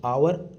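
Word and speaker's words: hour: और 30वां क्वेश्चन है आई मेट हिम आवर एगो। इसके अंदर भी देखो एज साइलेंट है। आवर होता है।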